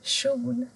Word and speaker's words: kjol: Om du har K och J så ändras ljudet till kö. Till exempel en kjol.